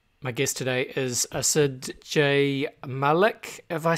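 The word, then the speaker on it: Asad J. Malik: my guest today is asid jay malik have i said that right andy wow that's a probably the best pronunciation of my name i've heard in a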